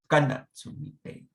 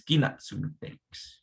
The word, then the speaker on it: Kanatsumi takes: But sometimes, a lot of the times actually, people pronounce it as Ginatsumi takes, or even Ginatsumi takes. Ginatsumi takes. So, you start out with Kanatsumi takes, and then it just kind of transforms to Ginatsumi takes.